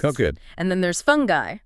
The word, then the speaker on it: fungi: And then there's fungi. Fungi, with that specific pronunciation.